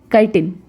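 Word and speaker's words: chitin: है जिसका नाम है काइटिन। बहुत लोग इसको चिटिन भी बोलते हैं, तो चिटिन इज रॉन्ग प्रोनाउंसिएशन, इसका सही प्रोनाउंसिएशन काइटिन है।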